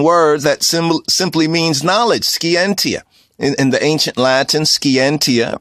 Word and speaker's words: scientia: Scientia is a Latin word that simply means knowledge. Scientia. In the ancient Latin, scientia, right? Scientia, that's a more modern Oxfordian pronunciation. But in the ancient Latin, scientia, it means knowledge.